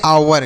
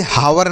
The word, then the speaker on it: hour: आगे अगला शब्द लिखा है बच्चों HOUR, तो इसे हम पढ़ते हैं आवर। क्या पढ़ते हैं? आवर। इसे हावर नहीं आवर पढ़ेंगे क्योंकि यहाँ पर यच साइलेंट रहता है, तो इसे आवर पढ़ेंगे।